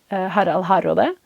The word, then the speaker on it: Harald Hardrada: I'm gonna just because there are two Harolds, I'm just gonna pronounce his name the Norwegian way, Harald Hardrada, just to differentiate between Harold and Harald a little bit.